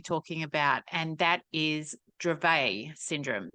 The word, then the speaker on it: Dravet: that is Dravet Syndrome so I've always called it dravette this I'm going to be totally up front here uh and Stacy was beautiful enough to go and correct me last night so it's spelled d-r-a-v-e-t which makes sense but Dravet is actually what it is called and so we're going